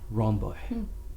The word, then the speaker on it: Ronboy: And today, I have the immense pleasure to receive, aka Ronboy. That's right. Did I pronounce everything correctly?